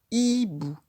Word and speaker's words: hibou: On n'entend pas le H parce que c'est une lettre muette qui ne s'entend pas. Mais on entend bien le I dans I. C'est la première syllabe de hibou.